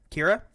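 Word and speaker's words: Qi'ra: Kira.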